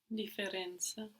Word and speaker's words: differenza: Differenza. So we have the two F's and we pronounce them both differenza.